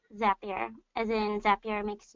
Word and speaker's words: Zapier: a common question right off the bat it's pronounced that beer and then zap your makes you happier debía